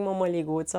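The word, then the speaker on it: mămăliguță: And he's pronouncing momoligutsa like Romanians do.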